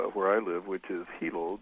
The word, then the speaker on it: Hilo: Well, you mentioned Hawaii, and you mentioned the city where I live, which is Hilo. The I's are pronounced like E's in Hawaiian language.